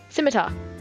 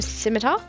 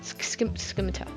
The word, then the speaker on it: scimitar: Simita. Scimitar. You don't pronounce the C. So, scimitar. That sounds right. Skimita.